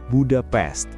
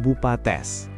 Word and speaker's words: Budapest: Budapest seharusnya diucapkan Budapest bukan bupates seperti kata bahasa Inggris untuk seranga dan jangan pernah mencampur adukannya dengan Bukarest ibu kota Rumania karena ini dapat menyinggung orang Hongaria.